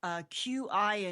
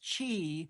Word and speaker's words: qi: And would the Chinese word, I think sometimes it is spelled QI in your book, and some places do it as XI or something, but it's Qi. Qi, yes.